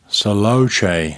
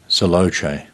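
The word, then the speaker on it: Selaocoe: yeah so that's uh able saloche is how you say his name which is spelled s-a-e-l-a-o-c-o-e able celoche yeah well what an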